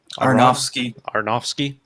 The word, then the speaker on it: Aronofsky: I guess our Darren, how do you pronounce his last name? Aronofsky.